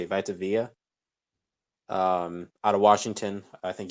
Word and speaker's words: Vita Vea: So Vita, that's how you say it, Vita Vea.